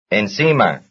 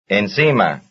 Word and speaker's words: encima: same stress family, since their stress is on the same syllable, that is, the second to last syllable. Number 43. Consigo. Encima. Consigo. Encima.